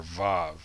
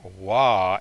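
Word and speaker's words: וו: for the letter vav in modern hebrew the sixth letter of the alphabet is the letter vav which has a v sound however can also take on the o or the u vowel sounds there is some controversy over this and that there are those who believe that in ancient times this letter was the letter wah and had a w sound along with the o and the u personally i believe that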